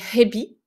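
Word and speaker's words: へび: La différence entre les deux, c'est le H. Et comme on n'a pas l'habitude de le prononcer en français, puisque nous, on ne prononce pas les H, hein, eh bien ça peut faire défaut.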